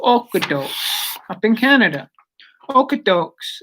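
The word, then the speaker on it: Okotoks: okudo up in canada okee dokes is how you say it you know that's what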